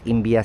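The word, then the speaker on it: Imbiah: Ang tamang pronunciation nga pala is Imbia Station.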